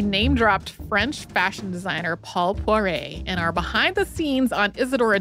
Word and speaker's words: Poiret: Paul Poiret. I thought it might or be. Or if you really want to French it up, Paul Poiret.